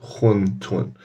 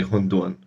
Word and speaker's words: 馄饨: So some people say huntun and some people say hundun. But both of those are like correct pronunciations, just depending on.